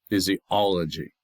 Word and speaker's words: physiology: The fizz, the e, the o, and the g are not stressed. It's the all. That's where the accent comes. Phys. Physiology.